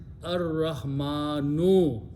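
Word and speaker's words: الرحمن: In the Tajweed, when Ra comes and Lam comes before that, we don't pronounce Lam, but we pronounce Ra twice.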